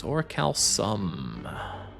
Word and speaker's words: orichalcum: Do I see a K in that? No, it's orichalcum. Soft C.